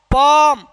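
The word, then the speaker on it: palm: कह रहा है कि एफ एम सॉरी के एम से पहले एल होता है तो एल क्या रहता है? साइलेंट रहता है मेरे भाई बच्चे।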